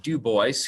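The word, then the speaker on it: Du Bois: have wb w eb dubois who pronounced his name uh in the american way not in the french way he's remembered more as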